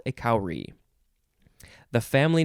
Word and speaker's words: kauri: the shell of a cowrie is called a kauri the family name that they are in is sepridai saprayadai something like that this is from the hindi and urdu word kauri which is spelled k-a-u-r-i it is a gastropod